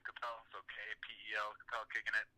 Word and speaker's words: Kapel: Instagram, my last name Kapel, so K-P-E-L, Kapel, kicking it.